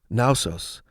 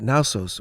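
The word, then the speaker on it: Knossos: dating to 7,000 BC naos was a major site of the minoan civilization it's spelled k n o s oos and I'm assuming the K is silent but I'd be embarrassed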